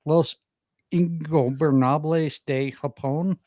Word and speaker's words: Los Ingobernables de Japón: And I may need some help at pronouncing this name, Carlos. Los Ingobernables de Japón defeating United Empire.